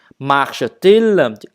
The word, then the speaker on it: marche-t-il: Marche-t-il? Hai nguyên âm gặp nhau, chữ T kẹp giữa để phát âm cho nó dễ.